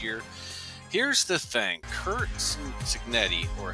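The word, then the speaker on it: Cignetti: Kurt Signetti or Senetti as it's pronounced in Spanish.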